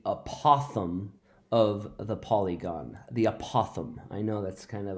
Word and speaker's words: apothem: interesting words in math people pronounce this a lot of different ways a lot of people like to call it the a Pithom but actually it's called the apothem this is the apothem